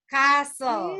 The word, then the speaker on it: castle: mmm castle class this is silent letter t castle very good again what